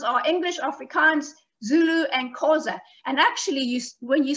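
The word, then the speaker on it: Xhosa: The biggest ones are English, Afrikaans, Zulu, and Khoza. And actually, when you say the word Khoza, you're supposed to do it with a click like this. So it should be pronounced Khoza, which is quite difficult to do.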